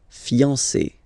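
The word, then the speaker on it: fiancée: But then you don't pronounce it phonetically whether it's masculine or feminine it will still be fiance. Okay? So if a man is talking he will say if a woman is speaking she will say okay so phonetically it will sound exactly the same but if they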